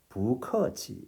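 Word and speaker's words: 不客气: 원래 이 글자는 뿌하고 발음해야 하는 자인데 이 경우에는 뿌가 아니라 부커치가 아니라 부커치 이렇게 발음했다는 거예요. 자, 이 경우에 이제 성조 변화가 일어난 것인데 그 내용이 어떤 것인지 보십시오. 바로 이것입니다. 뿌라는 말 뒤에 다시 사성, 제4성으로 발음해야 하는 글자가 올 때 이때는 이 뿌를 사성이 아니라 이성으로 부하고 바꾸어서 발음한다.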